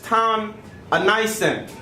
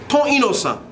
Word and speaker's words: Ti Inosan: All right, I think he mispronounced that all the way. I am learning the Haitian language. First name is. And Ton, oh crap, I mispronounced it. Ton Inosan. There we go.